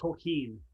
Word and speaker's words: Tolkien: All right, Brendan, it's pronounced Tolkien.